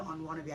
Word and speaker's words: Onwanabe: Okay, so my name is Onwanabe. I'm a psychiatrist. And the way to say my name is like I want to be on WGR. But I want to be, right?